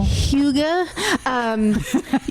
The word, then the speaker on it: Hygge: Hygge. To see the word, if you're not... Spell it for those who might want to play.